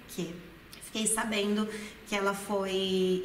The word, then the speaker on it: che: Olha aqui, pronúncia do CHE é que.